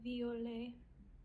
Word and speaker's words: violet: So ET at the end is an A sound all the time. We never pronounce that T if you have ET. And also the I followed by a vowel becomes a Y sound.